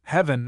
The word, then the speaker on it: heaven: In the same class of errors is that of making an extra syllable in such words as even seven heaven 11 and given where properly the e is elided leaving he and so forth.